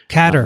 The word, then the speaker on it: Qatar: How do you pronounce Qatar? Catter. I've had Catter. This is actually so. Are we going to go with Catter?